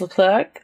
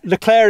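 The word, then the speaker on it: Leclerc: no one really knows no one really knows lir if you're French L clerk if you're a bit more angli sized I hope Charles L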